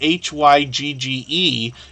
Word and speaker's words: Hygge: name because the spelling h-y-g-g-e is pronounced hygge as if it was supposed to be h-o-o-g-a right so Hugo Homestead